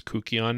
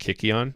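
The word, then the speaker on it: kykeon: I'm told the correct pronunciation is Kukion now. Kukion. I always went with Kikion.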